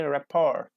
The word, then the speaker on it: rapport: them in the birds there are some where is very very sophisticated French imported words which entered English much more recent like ballot garment or rapport which all copy different pronunciation without tea like we say Bali gourmet ballet gourmet rapper ok rapport without tea and finally English speakers